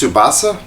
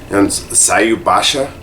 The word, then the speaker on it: Tsubasa: to butcher it uh I think it's pronounced subasa one my friends swears up and down that it's pronounced saub Basha but there's no h so I don't know so we'll